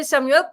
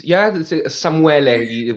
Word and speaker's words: Samuele: And today we have, as you see here, Samuele. Am I pronouncing correct your name, Samuel? It's Samuele with the E at the end, but Samuele, okay.